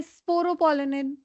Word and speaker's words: sporopollenin: Yes, sporopollenin. You have pronounced it absolutely correct.